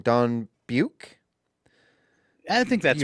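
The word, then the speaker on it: Beuck: Pardon me if I'm pronouncing this wrong. Dawn Buick. I think that's right. B-E-U-C-K. Buick.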